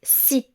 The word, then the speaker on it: six: On prononce 6 et 10 comme si et di lorsqu'ils sont suivis d'un mot qui commence par une consonne.